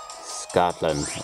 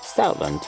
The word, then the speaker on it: Stoutland: Scotland, or Stoutland, as it's pronounced.